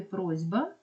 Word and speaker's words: просьба: і це також м'який в слові просьба Ми чуємо звук зі бо дзвінки би впливає на попередні і робилять його дзвінким Тому цей варіант також